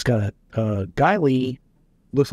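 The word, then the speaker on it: Geissele: It's got a Guy Lee, looks like it's pronounced Giselle. Mm-hmm. It's not, it's Guy Lee.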